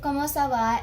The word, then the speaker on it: comment ça va: The first way of saying or asking how are you is comment ça va.